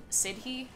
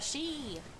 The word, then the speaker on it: Sidhe: I keep wanting to call him Sidhe, but I think it's an Irish word or something, and so it's not actually said, pronounced how it looks. It's like she or something.